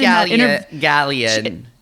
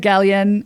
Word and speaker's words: Gallienne: I think she said Gallienne. In France, they said Gallienne, and I think in America they say Gallienne.